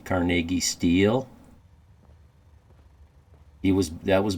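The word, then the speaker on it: Carnegie: in the world after he sold his um carnegi steel to JP Morgan and they formed it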